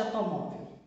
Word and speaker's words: automóvel: Qual que é a sílaba mais forte de automóvel? Vamos usar o truque? Automóvel. Qual que eu falei com maior intensidade? O mó.